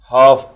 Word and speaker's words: half: year سنة، month شهر، week أسبوع، day يوم، hour ساعة، عندنا ال H لا تنطق، half hour نصف ساعة، ال L silent وال H silent، quarter hour ربع ساعة،